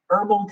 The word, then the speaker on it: herbal: i always gotta think herbal tea i used to say herbal tea all the time when i was little that's every time i look at this that word where the h is silent i still remember all